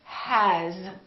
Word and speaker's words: has: in English very often a word is spelled with an S sound but it's actually pronounced with a Z sound with a zoo for example the word has it spelled with an